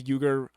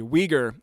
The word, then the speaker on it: Uyghur: voted in favor of accepting the euger sorry uyghur I was saying this wrong all yesterday I don't know why I would keep reading this uh phonetically uh but uyghur refugees